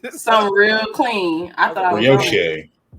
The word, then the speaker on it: brioche: Brioche. It's pronounced brioche. What did I call Brish? What did I was call like it? This Brish bun. Brish bun, brioche.